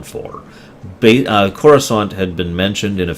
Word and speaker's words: Coruscant: Uh, Carusant is actually how I used to pronounce it before it was finally said out loud.